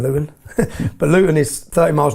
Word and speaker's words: Luton: Luton, we don't pronounce our T's in Luton, but Luton is 30 miles north of London.